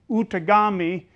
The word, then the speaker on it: Outagamie: And that is originally, it's pronounced Outagamie.